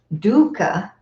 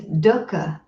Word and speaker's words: dukkha: a big one okay so it's not dukka dukka it's dhoka duh like the word put papa Doka Doka so I'm